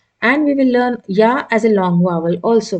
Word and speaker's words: ي: going to pronounce it ya is a light letter and ya is uh pronounced with the help of the tongue middle of the tongue so as you can see ya as you as you say yarn in English it is the same sound in Arabic yeah and how are